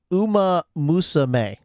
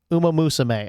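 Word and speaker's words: Uma Musume: It's it's it's pronounced Uma Musame. Uma Musame.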